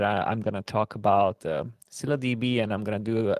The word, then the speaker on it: ScyllaDB: Actually, it's pronounced scylladb.